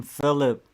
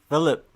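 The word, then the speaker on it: Felip: Sigma's telling me how to pronounce his name. Philip. Philip.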